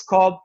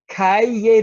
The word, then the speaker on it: Calle: a little music festival and the location is called Calle Ocho Calle that double-l is a Spanish letter called la and it's pronounced yeah so Calle Ocho and you might